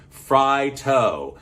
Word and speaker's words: Fritos: Fritos is a morph of 2 words, fried and tortillas, Fritos, fry-to. So I think that tells us we've been mispronouncing Fritos all of these years. Fritos should be pronounced Fritos.